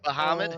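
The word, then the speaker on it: Bahamut: you say it B I don't think it's B I think it's bamit um baham okay yeah b a demon baham oh yeah that's right you're right well I never heard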